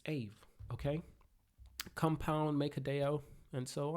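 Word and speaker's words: Aave: and admit that I don't know how to pronounce this four-letter word. AVE. It's AVE, okay?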